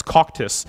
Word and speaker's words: Cocytus: I was like, "Hey, do you know how to pronounce this?" And he's like, "Yeah, it's coctus."